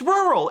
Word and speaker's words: rural: it don't spray it there's no th in it it's rural it's rural rural how and so many